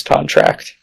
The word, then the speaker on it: contract: every turn say um I've always pronounced the verb is trct and the noun is contract yeah there's there's a